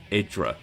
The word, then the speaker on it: IdrA: on the whole the besides idra or idra depending on how you want to pronounce it guy there's no